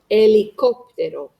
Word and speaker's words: helicóptero: H is the only silent letter in Spanish. Helicóptero.